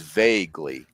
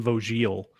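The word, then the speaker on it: Voegele: Anyway, the way you pronounce it is vaguely, like VAY, and then Glee, like Glee Club.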